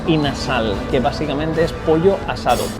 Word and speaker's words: inasal: Pero por la pronunciación de los filipinos aquí, terminó siendo in a sal, que básicamente es pollo asado.